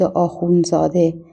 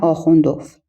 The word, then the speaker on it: آخوندزاده: میرزا فتعلی آخوندزاده و گاه با حذف دال به تلفظ آخوندزاده امضا می‌کند نه آخوند اف یعنی شهرت درست دقیق او همان آخوندزاده است که در ترجمه آثارش